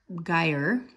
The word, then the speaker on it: gyre: the sub polar guide Geyer rhymes with fire the bathtub toy observations